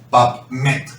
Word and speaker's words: PubMed: Y de hecho, en la bibliografía internacional, que podéis encontrar en páginas como PubMed, se escribe, por si alguien desconoce un poquito la pronunciación en inglés, PubMed, ¿de acuerdo?